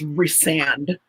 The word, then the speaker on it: Rysand: Like I was always doing like what Christine was doing, like pronouncing it kind of like recent, and no, it's Rysand.